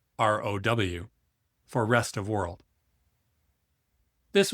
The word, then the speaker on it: ROW: ROW, pronounced ROW, for rest of world.